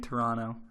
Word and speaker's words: Toronto: going to Canada Toronto you got to not pronounce the T in Toronto mama taught me that